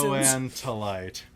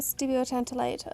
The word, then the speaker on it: stibiotantalite: Stibuloantalite. Oh, stibiotantalite.